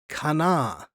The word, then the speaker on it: Cana: But Cana, in Hebrew, the word is kana, often spelled with a Q, but it's a hard kana.